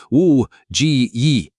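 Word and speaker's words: 五七一: In Mandarin, the numbers 571 are pronounced Wu Ji Yi, which sounds identical to the phrase for armed uprising.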